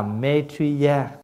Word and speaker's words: Maitreya: Bởi vì Di Lặc á là phát âm từ cái tiếng Phạn. Nếu nói cho đúng á là Maitreya. Và chúng ta đã phát âm cái chữ Maitreya là A-Dật-đa.